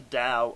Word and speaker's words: Tao: found a book called The Da of physics that's spelled Tao the da of physics